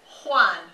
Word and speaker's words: Juan: But his name right here, his name is Juan, right? But what does it sound like at the beginning? Sounds like what letter? An H, okay? But it's actually a J.